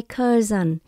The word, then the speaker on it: cousin: Em họ tôi là my cousin. Chữ S trong đây chúng ta đọc là chữ Z.